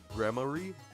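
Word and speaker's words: Gramarye: They gave us a pronunciation. Grammar. Grammar. Grammarie.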